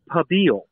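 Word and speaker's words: pibil: Okay, so the correct pronunciation is pabil. Pabil. Pabil. Pabil. And you have to kind of roll that L.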